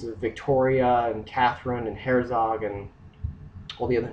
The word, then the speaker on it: Herzog: uh there was the V German settlement called Herzog which is spelled h e r z o and eventually